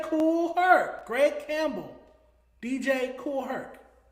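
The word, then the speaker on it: Kool Herc: DJ Koolh. Okay, that's why you're you're saying it hella weird. DJ Cool Herk.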